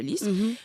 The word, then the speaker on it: Lis: la fleur de lis ça s'écrit l i s mais pas l y S mais ça reste la fleur de Liss ma Bella bah c'est